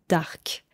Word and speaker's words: dark: En français, quand on parle, on utilise parfois l'adjectif anglais, dark, mais on le prononce différemment, dark.